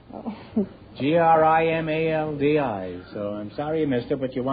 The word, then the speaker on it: Grimaldi: It's Grimaldi. Oh. Grimaldi.